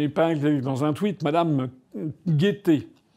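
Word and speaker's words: Guetté: J'ai vu que hier, j'ai épinglé dans un tweet Madame Guettet. Madame Guettet, ça s'écrit pas comme la gaieté, ça s'écrit G-U-E-T-E.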